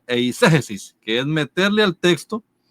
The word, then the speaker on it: eisegesis: Cuando estudiamos hermenéutica, estudiamos una palabra que se pronuncia eisegesis, que es meterle al texto, ¿cierto?